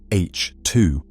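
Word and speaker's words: H II: These regions, known as H2 regions, pronounced H2, mark the nurseries where stars have just formed.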